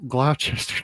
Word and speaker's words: Gloucester: As Welsh Fryer points out, Gloucester, it's sorry, Gloucester. my bad. I took a swing. It's a lot of letters for a less pronunciation.